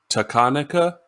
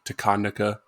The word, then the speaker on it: Takanaka: more pop uh masayoshi takanika i always want to say takanaka but i feel like the emphasis is wrong on that whatever i say that's